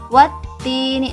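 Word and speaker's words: وَالتِّينِ: Alif lam syamsiyah adalah alif lam yang alif lamnya tidak dibaca jelas. Seperti tadi contohnya, wattini, dia langsung membacanya ketak gitu. Alif lamnya ada, cuman tidak dibaca, seperti itu ya.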